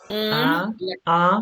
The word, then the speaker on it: un: Un livre du français. You and I have to write that down. Un. Yeah, imagine like a duck going like this. Yeah. Yeah, it's like a honk.